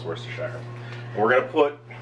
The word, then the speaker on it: Worcestershire: It is pronounced Worcestershire.